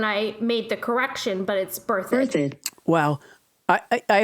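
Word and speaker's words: Berthoud: birthed so it's not birth thud it's birthed emphasis on the first syllable that's mike rinkoff from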